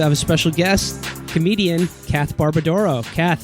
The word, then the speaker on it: Kath Barbadoro: You should call her Kath Barbadoro. That's the traditional pronunciation in Italian, so good job.